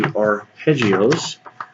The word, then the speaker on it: arpeggio: This one is going to be referred to about the arpeggios, and that has the word harp. Kind of the first syllable sounds like harp in Italian, and a